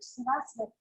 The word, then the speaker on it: Saraswati: There's no W in Sanskrit. So we'll see a lot of W written like Saraswati with a W or Satwa, but it's a V in Sanskrit.